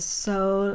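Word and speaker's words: sol: of course, but I did find that a soul of gold definitely is a coin of gold from, and that's the pronunciation for in French.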